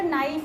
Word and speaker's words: knife: जैसे मैं कहती हूँ बेटा नाइफ है तो इसमें के साइलेंट होता है, ठीक है।